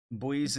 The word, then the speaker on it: buoy: you say buoy well I say buoy that's the way we say it here so how you say it Tim that is how we say it buoy there we go boys and girls some pronounce it boy boy what's up boy